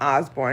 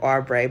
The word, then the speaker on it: Oubre: and Osborne and it's not Osborne it's like arbre but you know I